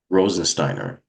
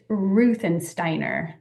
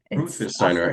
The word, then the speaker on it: Ruthensteiner: So, my last name is tricky. It's Ruthensteiner. Ruthensteiner.